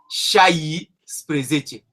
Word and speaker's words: șaisprezece: Si tu dis patrus presete, c'est pas faux. Mais pour l'harmonie phonétique, pour la facilité de prononciation, ils disent païsprezece et chaïsprezece.